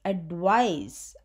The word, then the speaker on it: advice: the second one is advice as we have talked this is a noun and it has an S sounding at the end it is nothing but